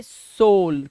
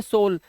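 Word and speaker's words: soul: और है ध्यान देखना एस ओ यू एल तो इसे पढ़ेंगे सोल क्या पढ़ेंगे सोल यहां पर इसे उ का साउंड नहीं निकालना है जैसे वहां पर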